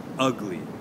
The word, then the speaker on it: ugly: the word okay so for ugly okay we will put the stress on the first syllable and ugly ugly okay can you hear that ugly now for agree we'll